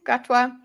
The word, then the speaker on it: Gatwa: Gatwa.